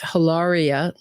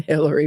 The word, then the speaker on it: Hilaria: that he participated in Hilaria not Hillary Baldwin Hilaria Baldwin she even changed the spelling